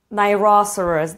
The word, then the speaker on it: rhinoceros: They eat rhinoceros. This time I said it right, because I'm from Poland and we say nosorożec, so I always get confused and I say it with different accent, but they eat plants, even gorillas.